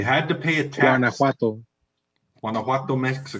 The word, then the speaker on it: Guanajuato: Guanajuato, Mexico.